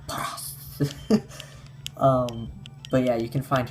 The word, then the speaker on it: Paras: You can find also Paras, I think is how they say it in the anime. Paras.